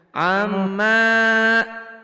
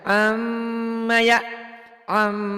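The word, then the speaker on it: عَمَّ: Amma, tak boleh panjang. Yang boleh panjang M-nya. Amma ya. Kenapa nggak boleh panjang? Karena belum ada mad. Adanya Iya. cuman guna. M-nya memang jadi 3 Bu. M-nya amma yatasaalun.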